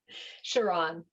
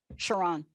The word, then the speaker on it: Chauran: How do you say it? Chauran. Chauran. Right, because it's got an H.